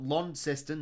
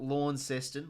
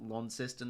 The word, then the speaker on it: Launceston: lawn system a lot Launceston not law in sestan Launceston they start pronouncing that right uh first Hawks game